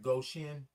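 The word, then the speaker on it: Goshen: Ann said, Goen, Indiana. I did say it right. Goen. Wait, is it go? I kind of separated go and shin.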